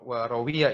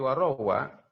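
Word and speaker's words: وروى: Selanjutnya warawa, bacanya bukan warawiyah ini, tapi warawa dan telah meriwayatkan siapa Asy-Syafi'i, Imam Syafi'i.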